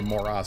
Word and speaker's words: Moros: And I say Moros, it's Moros, but I say Moros because it rhymes with moron, because only morons own them still.